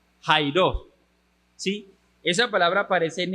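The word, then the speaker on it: χαίρειν: se escribe shiren pero se pronuncia como Jairo Sí esa palabra aparece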